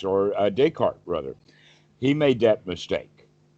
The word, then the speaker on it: Descartes: Descartes, or Descartes, rather, he made that mistake.